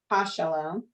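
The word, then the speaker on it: הַשָּׁלוֹם: Remember the hey is like an H, so you got to pronounce it. Ha. Ha shalom, mal ache, elyon.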